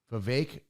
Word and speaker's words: Vivek: also ran, and I always pronounce this name wrong, but I'm gonna do my best. Vivek. Yep. Vivek Ramaswamy.